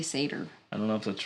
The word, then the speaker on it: satyr: I say satire, or I was saying satire. I've heard it satyr? And yeah, you say satyr. I don't know if that's right. Satyr later.